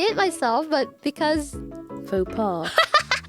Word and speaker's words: faux pas: I know I can say it myself, but because Faux pas. it's just funny because fucking Google Chrome. Yippee! Yeah. Freaking French loanwords. I know. What the X is silent. The S is silent.